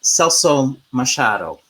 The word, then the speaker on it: Celso Machado: Anyway, moving on to the next couple of pieces are by a Brazilian Canadian composer, Celso Machado. Did I pronounce that right, Tim?